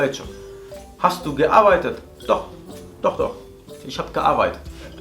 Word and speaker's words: doch: Por ejemplo, al final de palabra suele sonar como una J. Una J como la que conocemos nosotros. Como por ejemplo la palabra doch, que es una palabra con la que estás afirmando cosas cuando te dicen ¿has hecho algo? Y tú, doch, doch, lo he hecho.